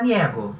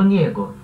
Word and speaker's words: niego: Tu, em alguns lugares você vai ouvir falar niego, com o E aberto. Mas a pronúncia desse E oficial é sempre fechadinha. Então, yo niego.